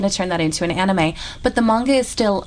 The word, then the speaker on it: anime: Well, apparently we're meant to pronounce it anime, but I personally just think that sounds silly. But then again, most people probably think I sound silly saying manga. So anime is the movie version of manga.